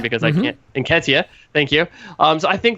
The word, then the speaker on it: Nketiah: I'm not even going to try to pronounce his last name because I can't. Nketiah, thank you.